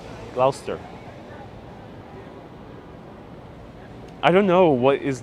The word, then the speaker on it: Gloucester: i don't know and b griffin says it's uh pronounced gloucester gloucester thank you gloucester i don't know what